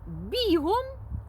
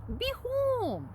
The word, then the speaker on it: бігом: бігом від іменника біг. Ось так. А в іншому творі я прочитала: Козак бігом кинувся з хати, тримаючи в руках шматок сала.